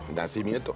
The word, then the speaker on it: Nacimiento: Did I say it right? Nacimiento. Nacimiento. It's a tequila.